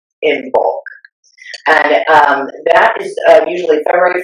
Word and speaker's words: Imbolc: Now that is spelled Imbolc, Imbolc.